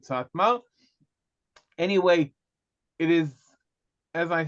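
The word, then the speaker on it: Satmar: is a group and the ALF in both cases tell tells us we should pronounce it satma anyway it is as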